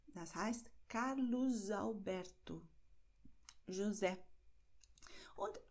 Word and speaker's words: Carlos Alberto: Bei Carlos Alberto wird S hier als S ausgesprochen, weil S befindet sich am Wortende und das nächste Wort beginnt mit einem Vokal. Das heißt Carlos Alberto, José.